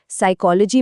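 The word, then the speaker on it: psychology: साइकोलॉजी में P silent है।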